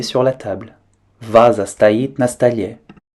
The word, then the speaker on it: на столе: Faites attention à bien prononcer comme un seul mot на столе.